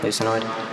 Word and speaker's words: lucinoid: All right, lucinoid, L-U-S-A-N-O-I-D, lucinoid.